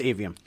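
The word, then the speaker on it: Aveum: Or Avinum, as it says. Is it Avinum or Avium? No, that's why I'm looking. No, it's Avium.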